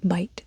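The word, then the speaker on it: Bight: Pond and the Snake Bite Trail. Bite spelled B I G H T. I don't know why it's spelled like that.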